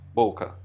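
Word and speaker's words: bokeh: o defeito book e é uma palavra japonesa que indica mancha o borrão e é pronunciada mais ou menos dessa forma Originalmente em inglês costumam pronunciar de duas formas uma mais parecida com original japonês golfe e outra mais comum nos Estados Unidos boca esse efeito ocorre pelo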